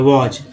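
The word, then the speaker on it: was: उसके बाद देखिए वॉज, इसमें देखिए एस को देखिए वाह हो गया, एस को ज यहाँ भी उच्चारण किया गया, एस को ज बोला गया, वॉज।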